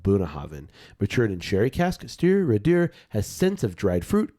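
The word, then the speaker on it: Stiùireadair: and this is the Stewardeur. Stir. I know I'm making that sound kind of French, but Stop moving. You just stir it there. Stewardeur. All right. Pronounced Stewardeur.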